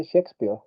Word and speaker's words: Shakespeare: Claro, se escribe chakespeare, así como chespirito, pero se pronuncia Shakespeare.